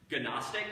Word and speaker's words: Gnostic: So just like we have a silent K before our word knowledge, right? We have knowledge in English. Gnostic is G-N, so the Greek word gnosis, which we hear as an N but has a G in front.